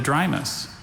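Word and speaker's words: Drimys: Essential oils are sometimes extracted from the bark and leaves of the drymus. Drymus. Drymus. And are there any alternate pronunciations? I see just the one here, drymus.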